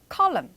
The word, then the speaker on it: column: column, column. 그렇죠. 우리는 칼럼 이렇게 발음하는데 column 이렇게 조금 슈화로 발음이 되죠.